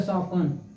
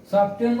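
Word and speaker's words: soften: एक एग्जांपल और देख लो, यस ओ एफ टी ई एन, ये हो गया सॉपन। सॉपन मीन्स कोमल होना, कोमल होना, ठीक है। देखो सॉफ्टेन मत पढ़ना, ये हो गया सॉपन मीन्स कोमल होना, ठीक है।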